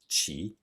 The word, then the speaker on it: 起: This is not the case for the following Chinese character, qi, that we have in 对不起, bu being the negation.